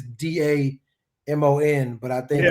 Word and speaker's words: Daemon: Yeah, that it's pronounced the same way.